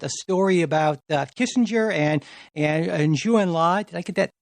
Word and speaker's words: Zhou Enlai: and you mentioned a story about Kissinger and Zhou Enlai. Did I get that pronunciation right, I think? Zhou Enlai.